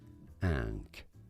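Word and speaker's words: ankh: The word for life and by extension, hey, tell me what the how tell me how to pronounce it. life itself. Ank ank.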